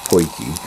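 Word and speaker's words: potjie: It's spelled P-O-T-J-I, but pronounced poiki.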